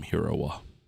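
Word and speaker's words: Hiriwa: We call him Heroa. Like how you spell it? H I R I W A.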